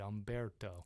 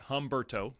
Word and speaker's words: Umberto: We now have Umberto out there, and yes, that is how you say it, Umberto. Not Humberto. Not Humberto.